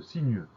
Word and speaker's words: sinueux: du mot, on a une lettre muette, on a un X qu'on n'entend pas. Donc on va penser à bien mettre ce X à la fin de sinueux. On pense au son E qui s'écrit E-U et au X final.